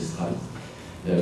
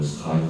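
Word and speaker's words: Streit: C'est un Américain qui s'appelle Clarence Stride, c'était d'origine allemande, je le prononcer Stride.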